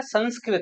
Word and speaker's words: संस्कृत: तो संस्कृत लिखोगे यानी इसका शुद्ध जो उच्चारण होता है वो तो है संस्कृत ृत यानी यह जो र है वो यह वाला र नहीं है बल्कि ऋ वाला र है इसमें ये तो ये इसका सही उच्चारण है संस्कृत दूसरा है हिंदी